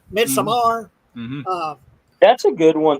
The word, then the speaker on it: Midsommar: Is it Midsummer? Midsommar? Yeah. Midsommar.